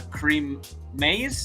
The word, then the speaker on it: Kareem Maize: anarchism episode and tonight we're joined by uh creem ma did I pronounce that right yes you did all right